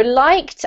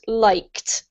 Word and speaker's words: liked: it has a D in the spelling, but it's pronounced as if it were a T, so it's pronounced liked.